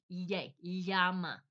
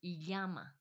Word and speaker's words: llama: So if you can get that sound going yama, you know the llama. L l a m a in English, we pronounce it llama usually, right? But with them, same same word. Same word exactly, but it's yama.